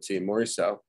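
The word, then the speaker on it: Morisot: uh is by maurice oh and you pronounce you spell her last name um i think it's m m-o-r-i-s-o-t m-o-r-m-o-r-i-s-o-t morriso and she's like has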